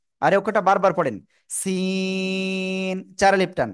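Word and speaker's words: سين: করতে হবে আমার দিকে জিহ্বার আগা সামনের নিচে দুই দাঁতের পেট ও আগের সাথে লাগাবেন লাগিয়ে চিকুন আওয়াজে আপনার উচ্চারণ করতে হবে সিন সিন জোরে জোরে সিন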